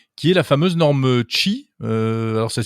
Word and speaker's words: Qi: Alors tout le monde finalement a enfin réussi à se mettre d'accord sur une norme qui est la fameuse norme Qi. Alors ça s'écrit QI, mais ça Ouais, se prononce Qi, c'est ça?